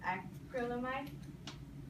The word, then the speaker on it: acrylamide: And lastly, it also is a carcinogenic, basically meaning it has a cancer-causing chemical in it known as acrylamide. That's how you pronounce it.